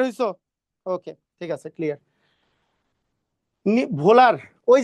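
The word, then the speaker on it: Wöhler: ভোলার, ওই যে ফ্রিডলিক ভোলার, ওই যে ভোলার অথবা ওহলার, যেটা উহলার, অনেকে উহলার অনেকেই লেখে, কিন্তু মেইন উচ্চারণ হচ্ছে ভোলার।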